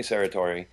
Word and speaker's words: Serratore: You're listening to Psychic Viewpoint, and so our special guest, Bonnie Serratore. Is that the correct pronunciation, Bonnie?